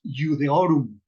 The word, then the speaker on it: Iudaeorum: En lugar de que yo lea Iudaeorum, solamente pronunciamos Iudeorum, ¿sí? ¿Por qué? Porque el diptongo AE se pronuncia E, como en la enunciación